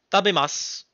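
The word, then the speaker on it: 食べます: vraiment, genre, à part si vous passez le verbe au passé, c'est-à-dire tabemashita, tu vas pas prononcer ton U. C'est-à-dire que vraiment, si tu manges, tu vas dire tabemas.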